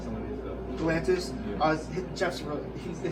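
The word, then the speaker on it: Geoff: Galantis Jeff's they saying I thought it's spelled G E O F and I thought it was GF and I was like GF coming. He goes no it's Jeff.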